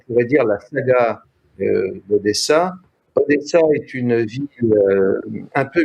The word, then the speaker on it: Odessa: Ce que je n'avais pas compris, c'était que en russe, le mot Odessa se prononce plus ou moins Odessa, et évidemment en yiddish, c'était devenu Hadès.